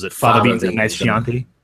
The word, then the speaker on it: Chianti: Fava beans and nice Chianti. Yes, Chianti. Yeah, that was on Except he says Chianti. He mispronounced.